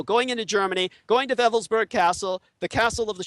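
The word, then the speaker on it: Wewelsburg: the shutle castle of velburg spelled with W's it's pronounced as a v in the Germanic w l uh w l s b RG and vburg Castle was where he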